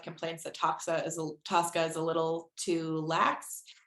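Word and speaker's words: TSCA: so the acronym is actually tsda but people pronounce it Tosca um and Tosca was originally passed in 1976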